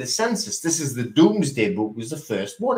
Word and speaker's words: Domesday: It might be Domesday, but it's pronounced the Doomsday Book.